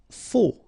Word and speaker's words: faux: Faux, okay, final X not pronounced, then you get this AU together, O, faux.